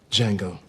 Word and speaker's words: Django: What's your name? Django. Can you spell it? D-J-A-N-G-O. The D is silent.